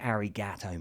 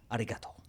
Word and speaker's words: arigato: And don't say arigato, mate, for fuck's sake. I don't care whether you're Aussie or anyone. Don't say arigato, mate. How do you say it, bro? Arigato.